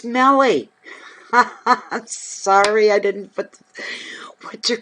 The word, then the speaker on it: Meli: It's M-E-L-I. And she said it sounds like belly.